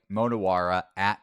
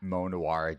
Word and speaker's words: Monowa: analyst to my right monowa monowa just as it's spelled on the screen breaking down a short